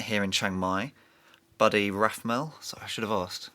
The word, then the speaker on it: Rathmell: We've got someone who I've met here in Chiang Mai, Buddy Rathmell. Sorry, I should have asked. Is that how you pronounce it? Yep, perfect. Buddy Rathmell.